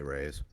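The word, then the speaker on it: Ra's: ghul and they're awesome you say roz i say raise i see it man you seen bateman batman well we you're just i'm just correcting you because you're saying it wrong how do you know because dc comics has printed the phonetics of it proof where it didn't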